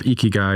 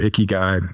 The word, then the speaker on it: ikigai: And I'm going to mispronounce it, but there's a Japanese phrase of ikigai or ikigai.